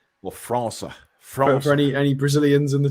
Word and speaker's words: França: I can't remember how to say the squiggly C in Portuguese in Brazil. It's like a S sound, isn't it? So Matheus França, I think, is how they would say it.